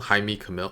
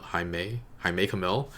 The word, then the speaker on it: Jaime Camil: hopefully it'll be okay I looked up how to pronounce Jaime Kamil's name and I think that's how you do it I make mil Jaime Camil hi may I make a mil it was really fun